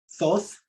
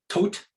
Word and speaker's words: Thoth: um and so the the egyptian god uh thoth or tote uh or thought depending on you know how you pronounce it we don't really know how the ancient egyptians pronounce things but i'm gonna say uh tote was the first alchemist